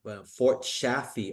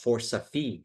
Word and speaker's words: Fort Chaffee: Fort Safi is Vietnamese broken pronunciation of Fort Chaffee, Arkansas.